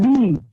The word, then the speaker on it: gneiss: यहाँ पे spelling G से start होता है, but G remains silent. Okay, so see the pronunciation of that word is gneiss. So don't say gneiss. It is not gneiss. It is gneiss.